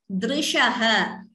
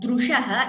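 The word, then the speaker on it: dṛśaḥ: Parihrita nimeshastava drishaha. Again, this is not dru. It is not drushaha. It is drishaha. Dr. That pronunciation should be clear.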